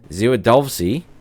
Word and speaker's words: Zwiadowski: I keep wanting to pronounce it as a W, but it's sort of more as like a V, the same as it is in German in Polish.